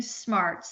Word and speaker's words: S2MARTS: And tell you everything smarts. So yes, it's S2 Marts, but it's pronounced smarts.